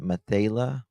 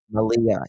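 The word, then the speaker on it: Malehya: Uh, the stepfather, the children's stepfather, Daniel Martell, reported that he and the children's mother, I always say her name wrong. Is it Mata? Malia.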